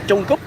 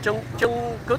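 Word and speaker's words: trứng cút: I think if I pronounce it Jungkut, I think it's a bad word. If you're Vietnamese and watching this, let me know. But I've been corrected many times. But with Vietnamese pronunciation, often the T is P. So, for example, the word for number one is mop, but it's spelled T.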